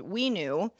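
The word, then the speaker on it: WeKnew: an nft platform called we knew spelled like renew but with a w designed to sell limited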